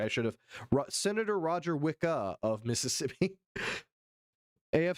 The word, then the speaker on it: Wicker: Roger Wickah. It's Roger Wicka. Okay, guys. Say his name right.